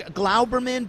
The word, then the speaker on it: Globerman: Globerman, it's Glauberman, but we are people, swarthy people who come from Russia and Poland. Who knows? Who knows what it is? But Globerman or Glauberman works.